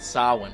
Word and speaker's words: Samhain: to celebrate what they called sawa which is spelled Samhain si ma che i